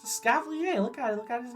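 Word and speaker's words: Escavalier: It's a Scavalier.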